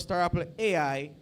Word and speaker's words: Star Apple: Duncan the founder of Star Apple AI you notice I pronounce it like a Jamaican startup star apple AI Jovan John to see